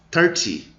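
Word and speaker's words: thirty: Então, quando tem o teen, dá aquela esticada, e quando tem o TY, encerra antes.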